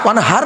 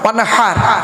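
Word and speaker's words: وانحر: এই দেখেন, ইন্না আতাইনাকাল কাউসার ফাসাল্লি লিরাব্বিকা ওয়ানহার, ওয়ানহার নয় ওয়ানহার, এই গলার ভেতর থেকে এটা উচ্চারণ হবে, ফাসাল্লি লিরাব্বিকা ওয়ানহার।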